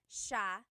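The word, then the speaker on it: siya: And then just a note about pronunciation. It's sha sha. The s i y combination makes the sh sound in tagalo.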